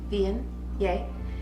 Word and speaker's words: Viognier: affecting how a wine tastes so DNA is pronounced bein yay it has its origins in southern France but